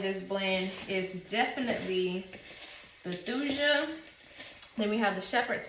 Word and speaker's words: Thuja: um I call it thusia occidentalis some people call it tuja and say the H is silent but whatever either way